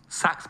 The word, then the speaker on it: Saxx: He takes out of his pocket a pair of Pax boxes. Saxx boxes, sorry. Get the name wrong.